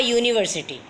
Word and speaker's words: university: An uncle, but a university. The U at the beginning of university sounds like YOU.